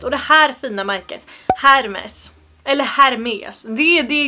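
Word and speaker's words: Hermès: här korrekta uttalssätten ifrån, så är inte det här Hermes. Eller Hermes. Det här uttalas Hermes. Varför döper man inte bara märket till Hermes och tar bort H:t?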